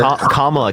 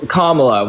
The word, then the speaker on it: Kamala: a Kamala voter kala can you say it correctly comma so so so I mean I like again you're I think you're doing it I think you did that on purpose honestly that's why I responded that way are you doing on purpose I swear to God I don't know if it's KLA or it's comma comma you can say